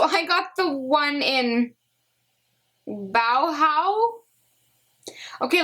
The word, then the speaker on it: Bauhaus: Bauhaus, it's like dead mouse. I think it's dead mouse, but Bauhaus.